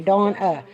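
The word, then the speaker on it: Deyawna: My daughter's name, my name's D-A-W-N-A, Dawna. Hers is D-E-Y-A-W-N-A, Dawna. She said it's spelled how it sounds, Dawna.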